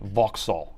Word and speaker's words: Vauxhall: 67 Jag man pronounces Volal Vox Voxall. Okay, Vauxhall.